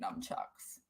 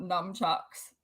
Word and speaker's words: nunchucks: dog we don't need nunchucks i'm saying it wrong aren't i it's not numb chucks oh thank you so